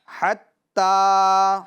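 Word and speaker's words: حتى: اب اس کے ہم ہجے کریں گے، اس طرح کریں گے ہا تا زبر حت، ہا تا زبر حت، تا کھڑا زبر تا، تا کھڑا زبر تا، حتا. حتا.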